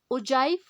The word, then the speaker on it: ogive: सो यहाँ पर जी के प्लेस पे हम जे टोन या फोनेटिक्स यूज करके हम ओजाइव जैसे लिखा जाता है दैट मीन्स ogive को हम ओजाइव बोलते हैं।